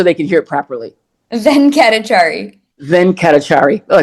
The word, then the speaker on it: Venkatachari: Venkatachari.